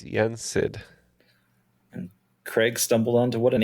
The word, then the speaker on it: Yen Sid: We're going to lock in with Yensid. Yep, it's Yensid.